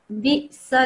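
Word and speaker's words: بِئْسَ: So this is a hamza. Biksa. This is obviously quite straightforward. Biksa. And then obviously we're not reading the alif. We're going to the lam. So lismu, bi'sa lismul fusuq.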